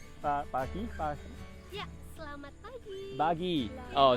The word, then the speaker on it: selamat pagi: And then bahasa is salaman pagi. Pagi. Yeah, selamat pagi.